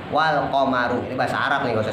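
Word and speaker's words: وَالْقَمَرُ: Ya, jadi bukan komaro, tapi wal qamaru.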